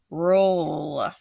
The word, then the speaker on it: rule: Don't forget, it's going to need that silent E on the end to tell it to say its name.